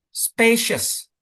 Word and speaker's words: spacious: Spacious. Coba yuk. Space spaes. Nah, jadi space-nya yang kencang.